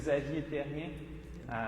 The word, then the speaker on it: Xavier Therien: It's a French name, Xavier Therien.